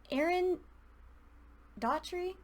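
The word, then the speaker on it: Aaron Doughty: And Aaron Daughtry, yes, that's how you say his name.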